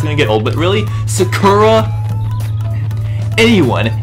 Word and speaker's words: Sakura: get old but really Sakura anyone anyone who has ever watched the anime knows it's pronounced Sakura even in the Japanese version it's pronounced Sakura okay I don't know where